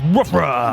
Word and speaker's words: WRFA: Pronounced woofra.